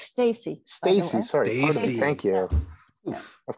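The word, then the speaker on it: Steacy: and uh working with ken steezy um it's pronounced stacy stacy sorry thank you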